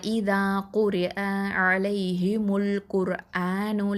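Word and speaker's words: قُرْآنُ: இந்த ரா சுக்கூன் குர்ஆனு, இந்த ரா சுக்கூன் வந்து ஹெவியாக சொல்லணும். ஏன்னா ரா சுக்கூனுக்கு முன்னாடி உள்ள எழுத்தில் வந்து தொம்மா வந்திருக்குது. அப்போது நம்ம இதை ஹெவியாக தஃப்ஹைமாக தான் உச்சரிக்கணும். அடுத்ததான் லாம் ஃபத்ஹா அலிஃப் மத்து அலிஃப் சுக்கூன் லா 2 அலிஃப் நீட்டுவோம்.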